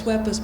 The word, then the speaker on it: Webbers: And I'm very glad to know it's Webbers, by the way. I've always wondered whether it should be a more Germanic pronunciation.